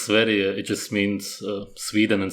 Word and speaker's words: Sverige: Temple It's pronounced Sverige.